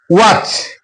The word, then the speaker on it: watch: T remains silent if it is followed by ch. For example, watch T is followed by CS.